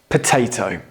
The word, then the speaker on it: potato: do you pronounce it potato now in American English they pronounce the second T more like a d but in British English we really want you to pronounce those t's okay T's with a